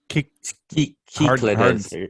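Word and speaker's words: Κυκλάδες: So yeah, Cyclades? we pronounce it cyclades, and he's like, you can say it this way. Cyclades? Kikladis. yeah.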